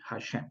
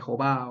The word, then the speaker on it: Hashem: Que se pronuncia así, Hashem, ¿vale? Yo les he explicado a ustedes toda la parte gramatical del por qué se pronuncia Hashem y no Jehová o Yahvé o nada de esto, ¿listo? Es Hashem. Y que Hashem hace referencia